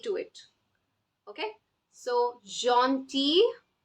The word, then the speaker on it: gentil: So, gentil, gentil, T, L is silent.